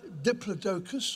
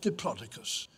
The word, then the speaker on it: Diplodocus: There are two ways of pronouncing its scientific name. It's either Diplodocus or Diplodocus. Either way, it's a bit of a mouthful.